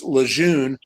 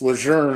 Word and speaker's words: Lejeune: And we wrestled down at Camp Lejeune, which people pronounce Lejeune, but it's Lejeune actually, at the Marine base down there.